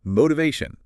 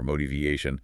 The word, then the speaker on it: motivation: The t often has a soft d sound or a quick flap sound when it falls between two vowel sounds like it does here.